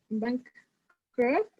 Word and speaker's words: bankrupt: The business went bankrupt. Bankrupt es bancarrota. Okay. I think it's cuando pronunciame very good. Cuando pronunciame bankrupt, pronunciame esa T al final.